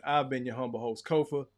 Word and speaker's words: Kofa: Once again, I've been your humble host, Kofa, K-O-F-A, not coffee, not, not Kofi, or any variation thereof. Kofa rhymes with sofa.